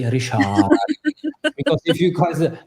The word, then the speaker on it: Richard: Pronounce his name correctly in the Dutch way. Rishard because if you guys Richard he love if he's called by Rishard.